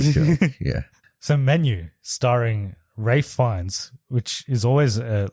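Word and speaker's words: Ralph Fiennes: it's like a Enigma that name rough because it's spelled completely different to the way you say it because I always thought it was Ralph finds but it's Ray fines right yeah yeah of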